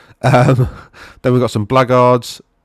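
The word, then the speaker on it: Blackguard: that's where the word blackard comes from Black Guard it's just a sort of a truncation or is it no a concatenation I think is the word of the words Black Guard so they're pronounced blackard right anyway blackards of nagar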